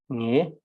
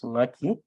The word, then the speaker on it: nge: So therefore, please never use ngaki, always use nge, nge or ngai. Say nge kangba or ngai kangba or ngai kangba, which will be the correct way to say it.